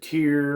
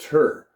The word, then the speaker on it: Tyr: in the last video some people have pronounced it tear or whatever t-y-r is what they call it but i mean i looked it up it's like a nordic thing called uh it's just pronounced tur but um and the cool